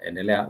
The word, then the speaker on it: endelea: But the letter E, but in Swahili, it's pronounced or it sounds as endelea, endelea, which means endelea means to continue.